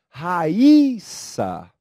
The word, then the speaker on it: Raíssa: Por que será que a palavra de cima não possui acento pronúncia é diferente e a palavra abaixo possui o acento agudo e também né Tem uma pronúncia diferente da de cima é Raíssa e o outro é Raissa vamos a diferença Olha